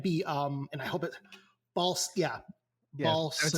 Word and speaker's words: Bolsonaro: So Bolsonaro is correct.